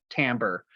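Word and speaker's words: timbre: tamber I should say this word t m b r e is pronounced tamber um and it just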